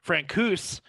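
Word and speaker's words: Francouz: even something crazier because frank goose uh is how you say his name frank coos is now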